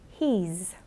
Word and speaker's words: he's: He has, he's. She's, it's. Slight difference in pronunciation there to notice. With he and she, it's a z sound, and with it, it's a s sound.